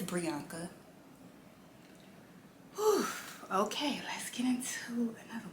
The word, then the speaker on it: Brianca: and i'm like okay so my name is brianka i'm gonna put it down at the bottom i'm gonna spell it out for you guys it's pre anka and just think of it like this brianna bianca put it together priyanka i don't know what